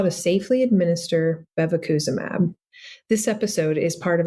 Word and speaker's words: bevacizumab: In this episode, I occasionally refer to the drug we are discussing as bevacizumab, but it should be bevacizumab.